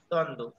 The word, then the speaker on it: দ্বন্দ্ব: দ্বন্দ্ব। উজ্জ্বল, দেখেছো যুক্ত ব্যঞ্জনের সাথে ব ফলা যুক্ত হয়েছে, এখানে উচ্চারণ উজ্জ্বল।